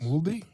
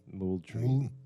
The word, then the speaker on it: Moultrie: Mouldy? Moultrie. Mouldy? Let's not do that.